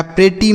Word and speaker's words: pretty: टी से लिखेंगे टा, और वाई से बड़ी की मात्रा, लिखा प्रेटी, मतलब होता है सुंदर, मतलब इसमें से एक टी को हम साइलेंट कर देंगे।